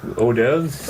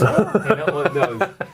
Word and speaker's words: hors d'oeuvres: Hors d'oeuvres. Hors d'oeuvres. Yeah.